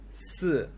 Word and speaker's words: 四: Okay, 4 is pronounced like 四. In Mandarin, this is pronounced 死.